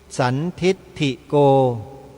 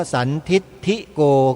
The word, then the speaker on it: สันทิฏฐิโก: เสียง ผิด กัน เยอะ สวด มนต์ เนี่ย สันทิ สันทิฏฐิโก ออก เสียง ว่า สันทิฏิโก ก็ มี ถิ ออก เป็น ทิ ไป ออก เป็น เสียง สูง เพราะ ว่า มัน เป็น